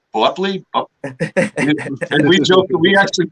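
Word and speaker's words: Boepple: like with beatrice buckley the way hers is called is b-o-e p-p-l-e so it was you see it written in front of you and it's like bubbly and we joke we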